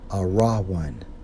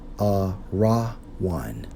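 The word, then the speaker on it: ארון: we focus on Ark according to the Hebrew Strong's H 727 pronounced as a raw one a raw one and according to outline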